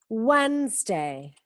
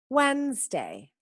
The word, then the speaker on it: Wednesday: Wednesday. Wednesday. Da igual cómo se escribe, se pronuncia así.